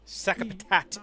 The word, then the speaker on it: Sakapatat: Sakapatat is how you're supposed to pronounce it.